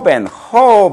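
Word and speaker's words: joven: J는 어떤 경우에서나 우리말의 히읗 발음을 좀 강하게 하세요. 배에 힘을 주고서, 그거는 강하게. 예를 들면, 허벤, 이렇게 되겠죠.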